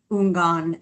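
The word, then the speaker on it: Houngan: This is why I didn't say Mambo, etc., because I was not sure how to pronounce Ungan. I would have pronounced the H and done it wrong.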